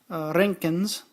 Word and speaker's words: Roentgens: And if I switch this to the inappropriate microsieverts, actually, excuse me, this is in Roentgens, roll your R, not much.